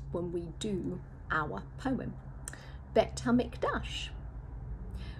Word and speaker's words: Bet HaMikdash: Bet HaMikdash rhymes with a nasty rush.